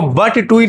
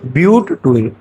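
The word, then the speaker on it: but-2-ene: इसको बट 2 इन नहीं पढ़ा जाता है, क्या पढ़ा जाता है? ब्यूट 2 इन।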